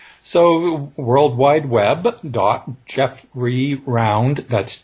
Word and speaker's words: Jeffrey: my first name correctly everybody wants to turn it into three syllables it's not jeff furry it's jeffrey round dot com and uh